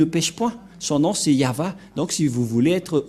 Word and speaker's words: Yahvah: et va V voilà le nom de yava prononcé par le grandpère Moché yava donc voilà nous avons